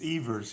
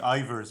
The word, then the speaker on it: Eivers: it I bizarre Eva's it's Eva's yeah there's no big deal most people call me I verse but writers ebers but you know what